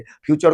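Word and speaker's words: future: बड़ी गलती करते थे फ्यूचर को फुटूरे पढ़ देते थे नेचर को नाटूरे और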